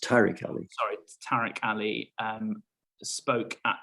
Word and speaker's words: Tariq Ali: Tariq Ali, who no doubt you'll be familiar with. Normally pronounced Tariq Ali.